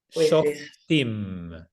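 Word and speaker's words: שופטים: Shoftim.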